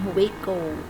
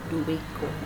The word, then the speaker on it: Juico: Don Juico. Oh, okay. That's the Philippine pronunciation. For the foreigner, Don Juico.